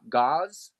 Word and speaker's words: gauss: things that measure the God how do you pronounce how do you say it got gauze yeah okay yeah but uh yeah so it'd